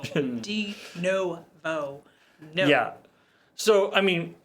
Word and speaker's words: Denuvo: They put no in their name. It's spelled N-U, but it says no. De-novo.